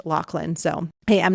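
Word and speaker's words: Loughlin: episode by the way I know a lot of people say Lori L but on her IMDb page in the trivia section it says that it is pronounced llan so hey I'm not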